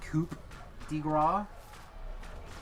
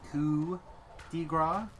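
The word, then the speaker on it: coup de grâce: tend to pronunciate words it sounds like I'm saying Coupe de instead of coup degra this whole time I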